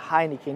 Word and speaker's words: Heineken: uma por qu porque o H em italiano é mudo então a pronúncia da cerveja Heineken no Brasil aqui a